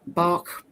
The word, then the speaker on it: Bach: Yes, many different ways to pronounce it. The purists say bark, depending on whether, anyway. So bark flowers is is what I've said for many years. That's what Americans would say.